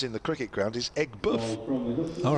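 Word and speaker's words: Aigburth: boardman tweeted earlier at sunsport says the correct pronunciation of ecberth as in the cricket ground is egg buff all right uh i know this might sound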